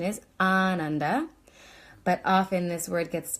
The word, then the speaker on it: Ananda: is like a bliss experience so the correct pronunciation is Ananda but often this word gets pronounced Ananda and